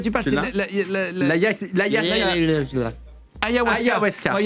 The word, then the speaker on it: ayahuasca: qui s'appelle, le nom, j'arrive jamais à le prononcer, l'agaskawa. Ah oui. Voilà. Non, mais je vois de quoi tu parles. Tu C'est l'as ayahuasca.